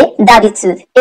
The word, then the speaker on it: d'habitude: d'habitude, d'habitude এখানে habitude এর সামনে ডি অ্যাপস্ট্রফি দেওয়া, সো এটার প্রোনাউন্সিয়েশন হবে d'habitude।